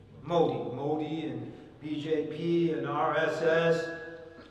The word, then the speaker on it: Modi: example, BJP, Modi, or Moody, how do you pronounce his name? Modi or Moody? Modi.